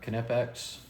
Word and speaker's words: Knipex: We've got a pair of Knipex. That's the correct way to say Knipex, by the way.